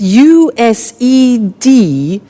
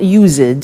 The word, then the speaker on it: used to: spelling s it's it's u s e d and then t o but the pronunciation is not used it's used unusual used okay so the example